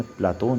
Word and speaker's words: प्लेटो: पूर्व में हुआ था प्लेटो उच्चारण अंग्रेजी के अनुसार है इस शब्द का यूनानी उच्चारण प्लाटून है जो अरबी के अफलातून के रूप में प्रचलित है इस पुस्तक के अंग्रेजी